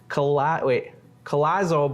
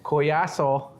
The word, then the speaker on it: Collazo: We've got Edwin Collazo, but that's not how you say it. How do we say it? Collazo.